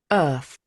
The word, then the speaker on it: Earth: So, Earth, can I spell it correctly? I have. Yes, I think. So, let's listen to them. Earth.